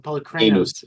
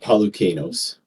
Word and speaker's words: Polychronos: Polychronos. He's got an R. I missed the R. I pronounce it Pelucanos.